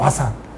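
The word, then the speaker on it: 和讃: 이걸 일본 사람들 음으로 읽으면 와산이라고 읽습니다. 와산.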